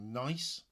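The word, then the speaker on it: gneiss: two specimen h is a rock that we call nice that's uh it's spelled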